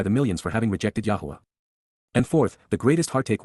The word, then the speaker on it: Yahowah: personal and proper name, pronounced, Yahowah, based upon Haya, to exist, with my whole heart